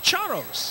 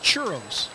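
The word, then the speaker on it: Charros: last team being Brownsville the Brownsville charos the chos yes not churros am I pronouncing it well no no no how's it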